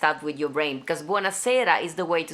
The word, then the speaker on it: buonasera: And they said buonasera, and I'm like, oh, I'm saying it wrong. It's buonasera. I say buonasera, but they said it different there in Florence for some reason.